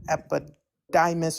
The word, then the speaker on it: epididymis: Epididdymis. I suck at reading things out without writing them. Could you just repeat that again? Epididymis. I don't think I'm pronouncing that right. I think you mean the epididymis.